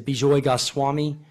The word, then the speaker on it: Bijoy Goswami: and uh then our uh final speaker is bjoy gas Swami and did I pronounce that correctly yeah pretty good okay cool